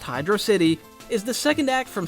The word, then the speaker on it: Hydrocity: Hydrocity, and yes, it's pronounced Hydrocity, is the second act from Sonic 3.